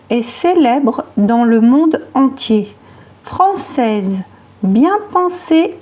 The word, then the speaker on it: entier: Entier, attention à la terminaison IER qui se prononce IE.